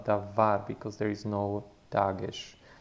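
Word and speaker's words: דבר: Okay, so the middle letter is V, and it's not pronounced dabar with a B, but with a soft V, davar, because there is no dagesh in it, or that dot in the center of the letter.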